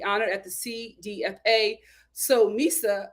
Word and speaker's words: Misa: at the cdfa so Misa I think that's her name how you pronounce it or missa oh no it's missa missa that's puppy's uh